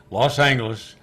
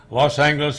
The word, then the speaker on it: Los Angeles: Even years later, when I worked there myself, that clock still said Los Angeles with a hard G on the clock, so you'd be sure to say it the right way.